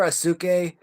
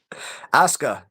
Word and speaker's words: Asuka: I always call her I always call her Asuk. Asha I think you pronounce her name. Osca. Asuka.